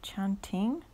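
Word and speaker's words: tjanting: Okay, so this batik pen is called a chanting. I think that's how you pronounce it.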